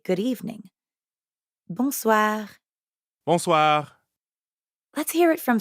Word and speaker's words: bonsoir: For that, we'd need to say bonsoir. Bonsoir. We already know how to pronounce the first part, bon, because it's the same in bonjour.